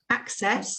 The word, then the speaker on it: access: So we've got access on the first syllable, and here it's on the second.